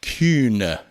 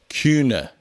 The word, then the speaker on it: Kühne: and by the way he has an umlaut in his last name so his last name is pronounced Cuna you don't have to